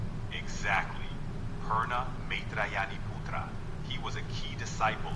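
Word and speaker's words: Pūrṇa Maitrāyaṇīputra: At that time, the Buddha said to the monks, do you see this Purna Maritayana Putra?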